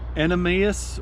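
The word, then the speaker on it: Animas: gonna mess it up an Emmaus river I believe is how it's pronounced but the run is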